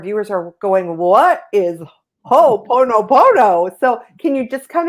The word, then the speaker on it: ho'oponopono: Ilene's passion and soul purpose herself are teaching conscious heart connection and ho'oponopono, I said it right, An ancient Hawaiian problem-solving process that's a simple but extremely powerful tool for healing.